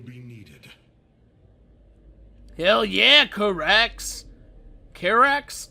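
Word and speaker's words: Karax: hell yeah KX carax it's carax I was just thinking because I thought this previously whenever I talked about this guy I pronounce his his name slightly off I think I say like CarX and it's carax I think I don't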